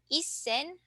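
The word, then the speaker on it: 一千: that as Isen sanaku so please take note here that um since our uh thousands has a number in front of it instead of reading it as sen we'll read it at as Isen so again if your uh thousands or let's say 1,300 is stand alone so just by itself then you read it as Sen sanaku but if it has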